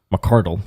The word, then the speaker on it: McCardell: Now, he told us his name is McCardell McCardle.